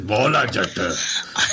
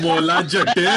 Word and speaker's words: Maula Jatt: Yeah, so let's move to the second trailer, The Legend of Maula Jatt. That's how you need to pronounce it. Maula Jatt. Maula Jatt.